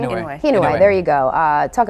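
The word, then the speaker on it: Inouye: senator from Hawaii Daniel uh how do you pronounce his last name hway there you go uh talk about it and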